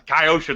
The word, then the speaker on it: Kyosho: like you a kyosho kaioshi how do you pronounce kaioshi that's how you pronounce it yeah i think